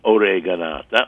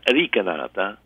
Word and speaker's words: oreganata: So one of the things I make most frequently, oreganata, or in dialect, ricanata, or, there's so many different pronunciations, is shrimp, because this is like the easiest way I know shrimp.